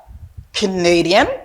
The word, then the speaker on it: Canadian: Mais quand il y a pour Canadien, on connaît deuxième syllabe là, forme stress là. OK? Mais on pas prononcer comme si même Jacques ça, mais ma prononcer comme son A, donc A ça, on prononcer comme un A.